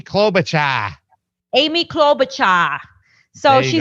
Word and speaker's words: Klobuchar: You got to say her name right. It's Amy Klobuchar.